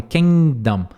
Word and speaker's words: Kingdom: o reino tá Kingdom você praticamente não pronuncia esse G então é Kingdom Kingdom tá é o